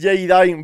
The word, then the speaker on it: JayDime: No es high, dime, es Jadine, bro, se dice así. Eso me lo dijo, hermano, nada más conocerme. El Jadine me dijo, bro, de